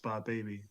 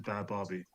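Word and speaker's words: Bhad Bhabie: bad Barbie yeah but it's actually pronounced by baby even though it says bad Barbie it should be bad Barbie yo should I create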